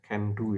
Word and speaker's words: CANDU: Jadi ini dibaca Can ya, CANDU ya, bukan dibaca C ya.